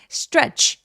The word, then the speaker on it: stretch: stretch 얘가 스펠링은 되게 많아 보여도 놀랍게도 하나의 소리예요. stretch 이름절.